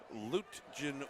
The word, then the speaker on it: Lutjen: And the intended receiver was Caden Luge. Not sure how you pronounce his name. Lutjen Williams, L-U-T-J-E-N, Lutjen Williams.